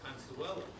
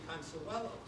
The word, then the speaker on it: Consuelo: kept sending back and changed Consuelo to Consuela, which is an interesting question. Why is she Consuelo? Well, I've heard from people who knew her that that's how she pronounced it.